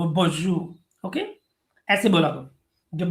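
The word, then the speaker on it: bonjour: तो जो प्रोनंसिएशन इसका होता है, शायद आपको पता होगा अमेरिका में रहते हुए, ये बॉन्जू होता है, वो बॉन्जू।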